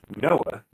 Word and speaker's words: Noah: He could do some big matches for Noya. Noya. I'm doing this again. I'm not pronouncing Noah properly, and I don't know why. Noya. Sorry, Stu. Noah.